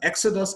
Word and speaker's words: exodus: Exodus, exercise, examine, execute. For exodus, the stress is on the first syllable.